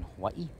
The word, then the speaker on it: Hawaii: Most people know of Hawaii as Hawaii, but actually the Hawaiian language, W is usually V, D. So Hawaii or Molokai. So that's how it's usually pronounced by the local people.